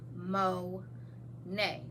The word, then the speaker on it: Monet: First off, my name is Monet, pronounced Mo-nay, but it's spelled Monet.